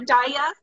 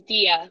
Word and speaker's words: Dia: Okay, and am I pronouncing your name right, Daya? It's Dia.